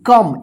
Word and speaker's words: come: COME, कम। इसको को मत पढ़िएगा।